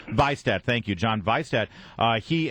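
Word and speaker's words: Vihstadt: I always have trouble pronouncing his name. Vistad.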